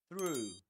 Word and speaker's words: through: So, through through and one key to nail this sound is to do this your lips you need to push them forward like this through through and that's why Luke Thompson says that you can hear a W sound in between throughout throughout because he pushes his lips